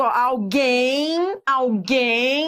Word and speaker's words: alguém: Alguém, quando você pronuncia, realmente faz sentido. Esse M é como se fosse um I, alguém.